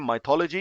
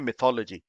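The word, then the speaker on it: mythology: Indian English में उसको pronounce करते हैं माइथोलॉजी, इंग्लिश में बोलते हैं मिथोलॉजी।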